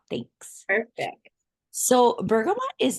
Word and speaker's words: bergamot: use this oil also is it bergam and the tea is silent it's bergam isn't it I think so